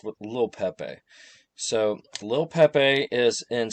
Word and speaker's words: Lil Pepe: So, this one is called Little Pepe, but uh, you know, it's pronounced with Lil Pepe.